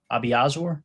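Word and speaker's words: Obiazor: Abiazor, is that right?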